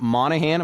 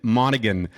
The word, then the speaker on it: Monaghan: it's actually Calvin Kevin Monaghan uh so you say the g yeah you say the g though it's not a silent G and yeah it's a